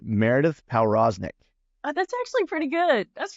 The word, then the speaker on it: Powroznik: I was like, is it Powroznik or Prosnik? I was like, I'm going to go Pow. I'm going to give it a little, I'm going to put the emphasis on the wrong syllable there, you know?